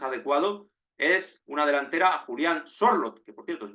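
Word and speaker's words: Sørloth: me parecería más adecuado es una delantera Julián schlot que por cierto se pronuncia sorot el otro día lo pronunció Alexander schlot así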